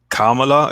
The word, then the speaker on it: Kamala: as it relates to Kamala. Is how you pronounce it? Is it Kamala? I don't pronounce it. Kamala. It's not Kamala. It's Kamala. It's yeah, Kamala, not Kamala.